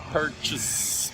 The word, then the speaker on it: purchase: for example the accent is on the first syllable per we say it perfectly the second syllable chase we don't say chase rented per case we say purchase it's reduced and modified take a look at